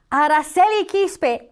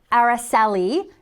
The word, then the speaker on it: Aracely Quispe: Aracely Quispe, NASA engineer. That's right. This one's out of this world. I couldn't resist. Aracely Quispe, Aracely, in more English pronunciation, Aracely Quispe is the first Latina to command 3 NASA space missions.